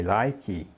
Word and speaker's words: like: diga I like like a gente não pronuncia esse e no final né então diga like like é como se a gente quase parasse no k né Ele é bem curtinho e surdo né like like vejamos outros